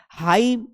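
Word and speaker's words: hymn: पर ए साइलेंट है हाइम भजन होता है हाइम होते हैं भजन होता है तो यहां पर भी जो है एन साइलेंट है सम होता है सेम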